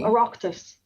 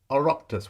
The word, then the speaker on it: Oireachtas: Be it enacted by the, I don't know how to pronounce this, O-I-R-E. Oh, Oireachtas. Oireachtas.